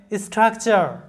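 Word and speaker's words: structure: তারপরে তোমরা জানো যে TURE এর উচ্চারণ হয় চার, তাহলে স্ট্রাকচার, STRUC স্ট্রাক, TURE চার, স্ট্রাকচার।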